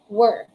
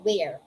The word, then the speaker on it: were: were everybody say it were it's not where word at you contract we are it's not pronounced as where usually contractions we